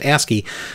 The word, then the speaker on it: ASCII: code for information interchange ASCII pronounced asky uh asky characters to